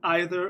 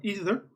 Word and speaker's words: either: Okay, you can pronounce it either or either.